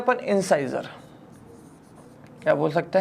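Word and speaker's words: incisor: बोल सकते हैं अपन इंसाइजर। क्या बोल सकते हैं? इंसाइजर या इंसिजर बोल सकते हैं, जैसा आपका प्रोनाउंसिएशन है।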